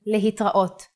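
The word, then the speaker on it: להתראות: Another way to say goodbye in Hebrew is lehitraot. Le-hit-ra-ot.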